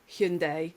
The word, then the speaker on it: Hyundai: I went to, and I'm sorry, Hyundai, or Hyundai, that's it, isn't it? That's how you pronounce it these days.